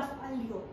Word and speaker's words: fallo: Ang double L is pronounced as Y. But ay, iba yung pilantik ng double L ng pag-falyo kaysa sa fallo, di ba? So I call it the fallo.